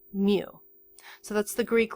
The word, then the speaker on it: mu: long left tail and it's spelled m you Mew so that's the Greek